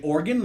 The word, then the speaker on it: Oregon: oregon are new yorkers no one says oregon they say organ like like an organ in my body it's yeah but i'm gonna play an organ yeah oregon it's like three syllables but like quick like organ like that's how you would say it oregon sounds like you're